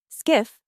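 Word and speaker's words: SCIF: Skiff, pronounced skiff, stands for sensitive compartmented information facility. It's a mouthful, which is why we just called it the skiff.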